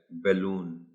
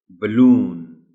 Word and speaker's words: balloon: बलून, again if some children do not know its correct pronunciation, they may be pronouncing it as balloon. The word correctly pronounced is balloon.